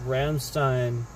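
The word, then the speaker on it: Rammstein: Well, it is Sane Sucked, but by the way, I call, by the way, they're called Ramstein, just so that you know, because they pronounce it that way in case you're wondering about that.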